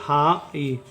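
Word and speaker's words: high: ये हो जाएगा हाई जी एच यहां पे साइलेंट हो जाएगा जी एच का कोई उच्चारण नहीं होगा उसी तरह से एम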